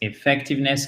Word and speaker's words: effectiveness: activement au cac c'est pratique c'est beaucoup plus effectiveness que fictivement vous entendez effectiveness effectiveness non c'est